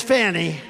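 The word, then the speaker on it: Fani: fny well is now even though it's I believe it's spelled f a ni I to my way of thinking that's Fanny but when she became the district attorney I think she put a little emphasis on the you fonnie so corrupt fonnie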